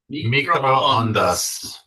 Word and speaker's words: microondas: It's actually spelled with two back-to-back O's, but as we'll learn here shortly, the O's are always hard and make the same sound. So they're all, so it's microondas.